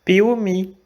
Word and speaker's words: Piauí: Por ejemplo, la palabra Piauí. Piauí es el nombre de un municipio de Brasil, del estado de Minas Gerais. Sin esta H, el nombre del municipio sería Piauí, pero no lo es.